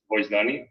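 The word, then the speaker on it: Vocdoni: And we started to work on Bogdani, which, by the way, it's written in Esperanto. It's pronounced Voicedoni, and it means to give voice.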